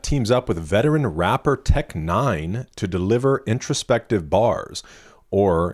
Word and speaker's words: Tech N9ne: All right, on Trust, NF teams up with veteran rapper Tech9 to deliver introspective bars. Or, if you really want to pronounce it, Tech9.